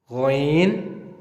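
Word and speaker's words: غين: And whenever you see a dot above ain, it makes ghain, gha. Same like we spell English gh, gha.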